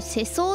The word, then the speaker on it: 世相: にそうだねこれ世相って読むんだ世の中のありさま社会